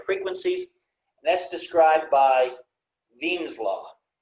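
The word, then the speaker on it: Wien: and that's described by veen's law with the w but you pronounce it with the v and it's written in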